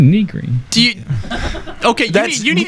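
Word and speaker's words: Nigri: Jessica Niggery, and Jim Sterling. Wait, whoa! Back that train up. Say Overclock Remix? No, the second name. Jessica Niggery? What? Negri. What? It's pronounced Negri.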